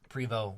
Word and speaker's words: Prevost: everybody some people pronounce it pre though Prevot but but it's spelled Prevost and so the measurements of